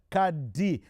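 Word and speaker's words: Qad: his proper name is Kad Kad amini spelled q a d but pronounced Kad am me is right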